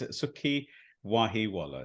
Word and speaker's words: Sukhi Wahiwala: we get going absolutely my name is sukii wahi Walla so it's kind of like a double barrel there it he Waller